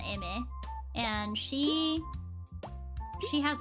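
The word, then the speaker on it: Aimer: texture is am uh spelled Amer but it's pronounced Amy and she she has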